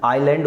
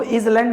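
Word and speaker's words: island: द्वीप समूह, आइलैंड उसको, अरे सुनो तो, ये एस, इसको इज लैंड मत पढ़ना, आइलैंड होता है, एस साइलेंट होता है।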